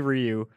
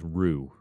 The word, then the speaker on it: Ryu: you I remember friends how to pronounce Ryu and I know three or I ever write it's definitely Ryu my friend kept saying it was rue I know what you're